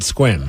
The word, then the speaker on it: Sequim: you did yep yep Sequim yep also stupid well they should just spelled it squim I feel like that